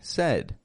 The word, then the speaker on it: said: notice by the way with the word said I'm not saying s with s a d it is spelled as though it should be S but we actually say said say what you said